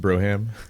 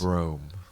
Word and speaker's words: Brougham: So you're telling me it's not pronounced Broham? Broham. Only the cool people. So how is it actually pronounced? Broom. Broom.